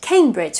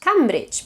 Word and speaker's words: Cambridge: A very frequently mispronounced word is the word Cambridge, for example, which tends to be pronounced Cambridge, but it's Cambridge.